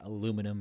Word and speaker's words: aluminum: defense and uh otherwise just pronunciation aluminum versus aluminium both are fine that's all right oh